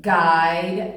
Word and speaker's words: guide: look at these two the U is silent in guide and guilty I saying it's name